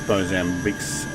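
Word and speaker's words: Moçambique: find out what else bosambic's good for uh it's a portuguese pronunciation okay country located yeah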